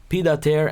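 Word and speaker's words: pied-à-terre: Pronounced, Pidater, and refers to a second or part-time apartment, basically.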